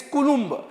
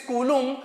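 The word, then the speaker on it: coulomb: just now have said it is kulum okay kulum kulum B is silent it is kulum C so what is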